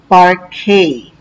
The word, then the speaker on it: parquet: do spray buffing and vacuuming part k is pronounced as part k so par plus k is part k it